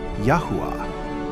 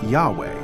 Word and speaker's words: Yahweh: Y H W H, in Hebrew pronounced Yahweh or Yahweh as scholars say.